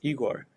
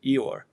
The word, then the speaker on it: Ihor: And so, their assumption was that name Ihor with H would be pronounced more like Eeyore.